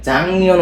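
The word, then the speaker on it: 작년: তাহলে এখানে আমাদের জাক নিয়নটাকে জাং নিয়ন উচ্চারণ করতে হবে।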